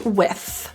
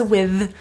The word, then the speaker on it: with: that you have with a very common issue with this word is the th depending on your dialect of English there are different pronunciations it's typically a voiceless th with with there may be some people who pronounce it as with and that's cool but the issue here is